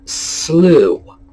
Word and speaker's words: slough: true is another one as in through or slough s-l-o-u-g-h not as in slew um let's see